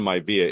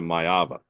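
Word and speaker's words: Maiava: oh um it's Jaden mava you have a couple of uh you have a couple of letters reversed it is not a myva it is a mava okay that's why I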